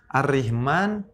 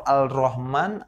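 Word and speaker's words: الرحمن: ado Maaf tidak ada tanda gitu ini Gimana bacanya ar-rahman atau Al Rahman Al richmon arrahmanu alri anginkan bingung kita ya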